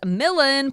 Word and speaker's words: Millen: My name is Millen, pronounced like Dylan.